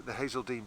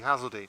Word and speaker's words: Hazeldene: It gives us the Hazeldene Barrow gives us. Sorry, I've been corrected on pronunciation. It should be Hazeldene, which incidentally Hazeldene is Old English for hazel.